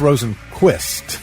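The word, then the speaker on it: Rosenqvist: It's Rosen Quist. Rosenquist. Yeah, it's spelled Q V I S T at the end, but it's qu Swedish driver uh Jana informed me that.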